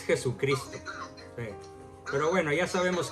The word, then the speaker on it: Jesucristo: Pero en este mensaje, para empezar, él llama a Jesucristo, nuestro Señor Jesús, como Jesús Cristo. Bueno, está mal pronunciado. Es Jesucristo.